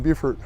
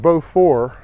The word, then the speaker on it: Beaufort: french it'd be pronounced beaufort but actually instead it was the norman french from back in the middle ages and there's a word that sounds like view like beautiful now as i mentioned